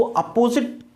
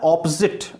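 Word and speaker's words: opposite: देखो इसमें भी प्रॉब्लम है, कई लोग इसको अपोजिट प्रोनाउंस करते हैं, अपोजिट, अपोजिट नहीं होता, प्रोनाउंसिएशन होता है ऑपोजिट।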